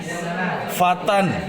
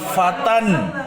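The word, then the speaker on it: فتًى: Dibacanya bagaimana? Ra'aitu fatan yahmilu 'asan. Bukan fata lagi. Kalau fata jadinya al-fata. Gitu.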